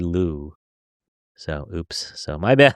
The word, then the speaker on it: Luo: I've been saying Lo, but they say Lou.